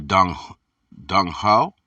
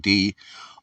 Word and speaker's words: Donghua: Tai Shang appeared magically to the Dongas, the Dung Ho. I'm saying it wrong. Donghua, and the way was handed